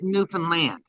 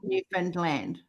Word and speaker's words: Newfoundland: Understand Newfoundland. Understand Newfoundland. You said it right, girlfriend. Yes. So That's how you're really saying Newfoundland. Newfoundland is the same as understand.